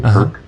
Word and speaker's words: PERQUE: How is that spelled or pronounced, an adverse what report? PERQUE is the company, Perk Integrative Health.